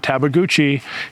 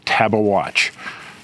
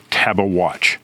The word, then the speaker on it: Tabeguache: at the San Isabel National Forest, the correct pronunciation is not Tabaguchi, it's Taba Watch, not Tabash. Some people say that, but he says it is Taba Watch. So, every time you hear me say Tabaguchi, just in your mind, in your mind, hear